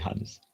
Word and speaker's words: honest: the prince to be honest it is honest not her sound is silent no major silent honest honest very good honest honest okay uh